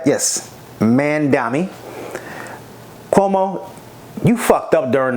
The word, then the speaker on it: Mamdani: Did I pronounce his name right? Yes, Mamdani.